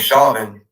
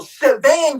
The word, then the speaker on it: Chauvin: I thought it was Chauvin. No, Shavan, you dumb fuck. Well, Derek Chauvin is spelled the same way.